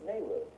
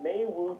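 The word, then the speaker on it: Meiwu: not pronounced it's Mayoo Mayu yeah M I is May okay so Mayu technology is what this thing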